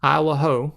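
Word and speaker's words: Isle au Haut: Over to the right, there's the Schoodic Peninsula, and then to the far southwest, you have Isle Ho, which is how I understand it's pronounced.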